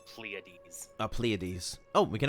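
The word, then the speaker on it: Pleiades: It's by the way, it's pronounced pleades.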